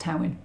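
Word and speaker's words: Tywyn: those of you who aren't Welsh t-y-w-y-n is pronounced Towing um madman I am the cliche where I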